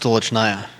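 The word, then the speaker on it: Stolichnaya: it again for me i think it's pronounced tulichnaya now it's just going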